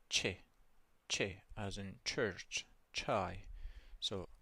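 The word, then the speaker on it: چاي: je Jamea Jamea Okay, we have che che as in church, chai. So, it's pronounced che che chai chai tea So, in Iraqi, if you want to order tea I read chai, I want tea.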